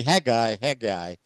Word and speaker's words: Haggai: The prophet Haggai made now I don't know how to pronounce it in Hebrew. Then we have to look it up. But in Yeah. English, we say Haggai, or in Portuguese, Ageu, Mhm.